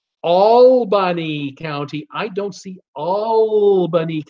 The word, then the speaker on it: Albany: They tell me it's pronounced Albany County.